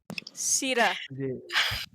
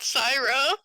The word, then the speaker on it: Sita: Sita. Not Syra. I'm Sita. Sorry. Every time I say my name wrong, I'm like, Syra.